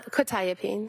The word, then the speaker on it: quetiapine: Probably mispronouncing this, quetiapine? Uh quetiapine.